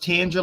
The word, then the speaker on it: Tanger: So it's pronounced Tanger, like tangerine.